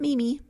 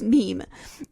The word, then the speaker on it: meme: the French word me it should be pronounced to rhyme with cream so it's not Mimi it's Meme and then um he